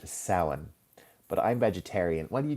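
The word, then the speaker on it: Samhain: And its original name is sin. I will spell it. It doesn't it doesn't sound anything like it's spelled uh in English sin.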